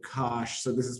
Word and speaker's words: cosh: So in terms of math, and we use the notation, as I said, Cosh, so this is pronounced Cosh of x.